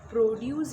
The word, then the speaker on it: produce: Produce, we get fresh produce here. So we put stress on PRO, produce.